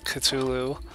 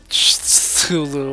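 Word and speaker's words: Cthulhu: can figure out that that's not actually culu or Tulu or you know however however fanic nerds like to pronounce it online but there is another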